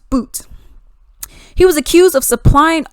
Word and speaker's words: Bout: So we got Victor Bout, even though it looks like Bout, it's pronounced Boot.